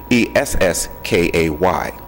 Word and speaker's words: Esskay: They put them together, SK, and it is spelled out phonetically, ESSKAY.